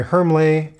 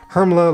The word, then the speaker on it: Hermle: a movement made by hermley hermle uh you know people have been trying to correct my german pronunciation but uh hermla like porsche i guess you know that uh at the end so this is the